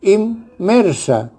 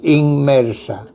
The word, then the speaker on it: inmersa: Por ejemplo, la palabra inmersa se pronuncia inmersa y la N que antecede a la M se convierte en M y suena inmersa.